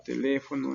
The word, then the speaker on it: teléfono: Vemos acá teléfono en la sílaba le, página, célula y máquina.